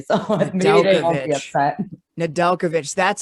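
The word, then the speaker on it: Nedeljkovic: the cup eventually so they won't be upset nadelkovich that's how you pronounce it dustin we were like not on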